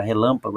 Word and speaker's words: relâmpago: tônica da palavra relâmpago então vejam que a palavra relâmpago a cab tônica ela não é a última veja aqui ela não é a última que é o g ela não é a penúltima que é o pa ela é a anti penúltima quando sílaba tônica é